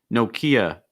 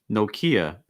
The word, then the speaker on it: Nokia: oh nicely twice nope nokia nokia it's not nokia it's nokia i have a nokia phone okay it's like no strong o sound and then kia again it's just like ikea nokia okay after that